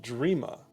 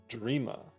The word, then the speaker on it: Drema: It's an old English name. It's pronounced Dreama. Dreama.